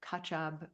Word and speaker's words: Khachab: Reggie Ray, and my Tibetan teacher, his name is Kachab Rinpoche, which sounds like ketchup, but it's spelled Khachab.